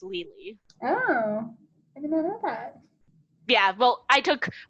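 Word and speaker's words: Lili: l-i-l-i um pretty much if you spell it l-i-l-i in every culture about western culture pretty much it's gonna be pronounced legally oh yeah well i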